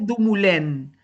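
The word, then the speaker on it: Dumoulin: me eh se llama eh porque es un autor francés, se pronuncia Dumulén.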